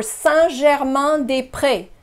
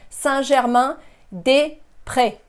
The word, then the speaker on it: Saint-Germain-des-Prés: The pronunciation for Saint-Germain-des-Prés. Saint-Germain, Germain is another nasal sound. Saint-Germain, Saint, Saint-Germain. You have two nasal sounds here, the same ones. Saint-Germain-des-Prés. Saint-Germain-des-Prés.